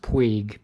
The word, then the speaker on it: Puig: insist by the way it should be pronounced puig p-u-i-g um but you know